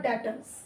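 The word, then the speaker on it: debtors: Sales, they are your डेटर्स। B silent, डेटर्स।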